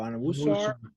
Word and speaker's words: Onwuasor: They lost, I don't know how to say his name, Patrick Onwuasor? Yeah, there you go, Onwuasor.